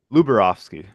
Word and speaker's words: Lubarowski: Give it to me like it's supposed to be. Lubarovsky. Lubarowski. I got it close. I got it right the second time.